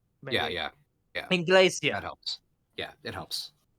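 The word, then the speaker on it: Englesia: Okay, so say it like I'm saying, like it's Spanish, the word for English. Maybe. Yeah. Inglesia.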